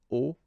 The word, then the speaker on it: hauts: And if you're a bit careful, you can hear that un haut commissionnaire and des hauts commissionnaires, well, clearly it is pronounced the same way. So you put the S at the end of both things here, okay, but then you don't pronounce them. So it will be phonetically almost the same, okay, in most of the cases.